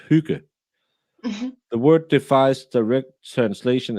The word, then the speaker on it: hygge: No, it's not pronounced hugah. It's pronounced hugah.